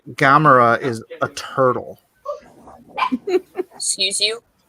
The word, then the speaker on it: Gamera: You don't say Gamera is a turtle. Excuse you. Excuse you. Bless you. No, is Gamera? It's not a long A sound.